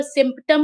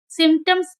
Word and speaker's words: symptoms: SYMPTOMS, P के बाद T है तो इसको सिम्पटम नहीं सिम्टम्स पढ़ेंगे।